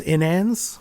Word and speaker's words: inans: And I think that it's pronounced inans, right? Inans, yeah.